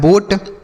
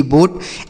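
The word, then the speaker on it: boat: बी से हो गया ब और टी से ट। ओ ए का उच्चारण। ओ की मात्रा यह लिखा है बोट। बी ओ ए टी बोट।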